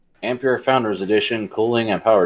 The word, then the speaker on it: Ampere: the question oh i said i believe it's ampere ampere founders edition cooling and power design yeah isn't